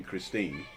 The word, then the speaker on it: Christine: but spell her name christine in germany we pronounce the e on the end so what i'm actually